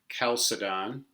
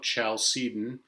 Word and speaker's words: Chalcedon: it the council of calcidon some will pronounce it the council of chalcedon uh i don't really